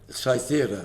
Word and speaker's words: Cythera: to pronounce the word, is it Kythera? Kythera, the island? Kythera? Cythera. Cythera, right, okay.